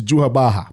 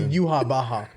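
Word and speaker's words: Yhwach: And I don't know why they spelled it YWACH, but it pronounces to Juhabaha.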